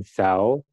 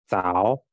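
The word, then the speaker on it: 早: berbeda dengan bahasa Indonesia contohnya adalah huruf z di sini bacanya bukan zo dibaca co c sang artinya pagi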